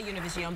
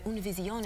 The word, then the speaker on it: Univision: No, but I mean, it's okay if you say Univision, but I like to bring out the Univision if I can.